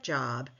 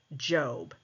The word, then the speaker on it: Job: Testament a book called job it looks like job but it is pronounced job and job addresses addresses the justice of God